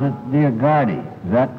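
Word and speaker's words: Dioguardi: thought I understood him to pronounce it Diagardi. Is that correct? Good night. You got to consult your attorney on that? I pronounce it Diagardi. Without the U being pronounced.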